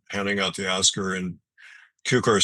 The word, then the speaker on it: Cukor: mispronounced his name too it's cucar not cuor CER you know people still